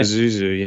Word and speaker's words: Pazuzu: Is it Pizazu? Yeah. Pizazu. I'll give it to you. I don't really know how to say it anyway. Pazuzu? Is that how you say it? Pazuzu, yeah.